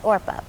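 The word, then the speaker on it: Orpah: My real name is Orpa, but people kept saying it wrong, so I guess it's just Oprah now.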